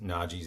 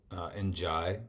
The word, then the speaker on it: Najee: I realized when I was listening back to last week's podcast that I pronounced James Najee's name Njai for a couple hits early on, and then switched to Najee, which I looked up